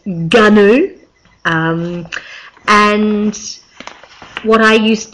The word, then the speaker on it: GNU: G operating system gnu I always thought it was new like you say the animal but no apparently it's ghu um and what I